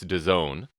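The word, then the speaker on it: DAZN: of the pronouncing it so it's the Zone don't know how you get to the Zone from da ZN but I digress so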